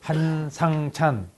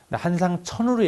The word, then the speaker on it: 한상찬: 발음이 좀 고약하죠? 한상찬. 한상천으로 얘기하더라고. 제가 얘기하면 꼭 학기 말에 제 이름이 한상찬입니다 그랬더니 뭐 대단한 이름도 아닙니다만 한상천으로 해요.